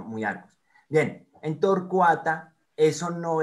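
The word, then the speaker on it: Myiarchus: No se dice miarcus, sino muyarcus.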